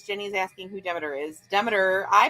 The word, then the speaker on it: Demeter: uh demeter is jenny's asking who demeter is demeter i pronounce the demeter i think some people pronounce it demeter but